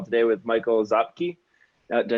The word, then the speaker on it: Szapkiw: call today with michael zapke uh did i say that right michael zapp cube last name zap q okay so if anyone ever sees my crazy name it's pronounced like z-a-p-q zap cube thank you okay yeah